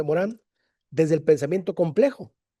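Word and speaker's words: Morin: La segunda respuesta la vamos a encontrar en Edgar Morán, el gran Edgar Morán, lo escribí mal, es Edgar Morín, se escribe Morín, se pronuncia Morán desde el pensamiento complejo.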